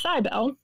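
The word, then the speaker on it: Cybele: cbel which I had realized recently I was pronouncing wrong I was saying civil but it's cybel consider the great mother of gods and associate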